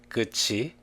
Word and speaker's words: 끝이: When the last consonants of front syllables, 디귿, 티읕, 리을 티읕, and the next syllable, 이 meet, they are pronounced as 지읒, 치읒. This is what we call palatalization. Let's look at the following example.